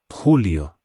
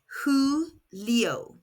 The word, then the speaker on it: Julio: In Spanish, the letter J is pronounced like an English H and the U makes an oo sound. Say it after me. Ho. That's June. July is Julio pronounced Julio.